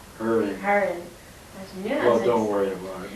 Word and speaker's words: Hering: Herron. Herring. Well, don't worry about it. Nobody pronounces it right anyway.